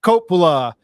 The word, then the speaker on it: Coppola: into our Aggie segment and I believe I pronounced his last name right tonight Nick Copa Nick how you doing I'm doing great um